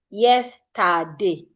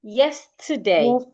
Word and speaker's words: yesterday: As a Nigerian, I would say something like yesterday. My voice is like yesterday. Same energy. But the right way to say it yesterday. yesterday. When you get to te e r, your energy comes down a bit.